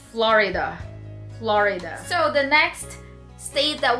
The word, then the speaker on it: Florida: Not Florida, because I heard somebody saying it as Florida. It's Florida.